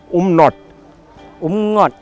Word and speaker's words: Umngot: So, you tell me how can we pronounce Umngot? Umnot!